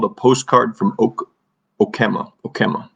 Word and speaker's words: Okemah: Okemah is actually how you pronounce it. I looked it up.